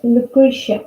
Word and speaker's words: Lucretia: Lucretia. Thank you. She rolls R's, Lucretia, so it's kind of hard to say it.